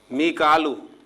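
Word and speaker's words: ميكال: मीकालू, जिसे हम मिकाइल कहते हैं, तो कुरान मजीद में इसे मिकालू प्रोनाउंसिएशन के साथ जो है लिखा गया है और अदा किया गया है।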